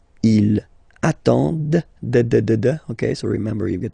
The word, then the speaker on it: attendent: And the last one, same thing, classic ending for il, elle at the plural form, ENT, but then you don't pronounce them. Ils attendent, okay, so remember you get to pronounce this, the D at the end, okay.